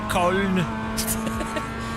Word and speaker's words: Köln: Why are so many German places pronounced in Germany completely different to how British people say them? Like, Cologne is Köln.